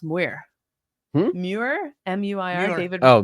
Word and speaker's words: Muir: So how do you pronounce Muir? Muir? M-U-I-R? David. Oh, Muir.